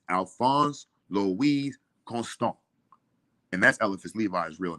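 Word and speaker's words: Alphonse Louis Constant: pronounce it pronounce it he says Alpha Alphonse the wig constant because I said Alfonso but we constant he said no it's Alphonse Louise constant and that's elephants Levi's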